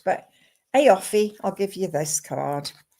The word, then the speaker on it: Aoife: It's spelt AOIFE. Offie Cronin. Can I talk to you, please? Yeah, you. I don't know how that's spelled, but Offie, I'll give you this card.